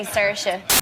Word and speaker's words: Saoirse: Oh, you say Saoirse.